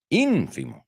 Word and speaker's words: ínfimo: Ínfimo, ¿no? Porque va el acento ahí.